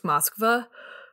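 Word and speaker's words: Москва: which one is correct to pronounce it correctly in russian it's moskva so okay what should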